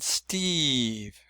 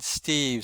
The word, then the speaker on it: Steve: So does Steve has a silent letter E on the end, but it shows that the E is long. It's not Stev, it's Steve.